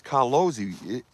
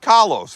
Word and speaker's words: Carlos: It's Carlosi. She's Italian. You gotta have some Z's, man. Even if she don't spell it like that.